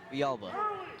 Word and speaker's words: Villalba: Jace, pronounce that name for me. Villalba.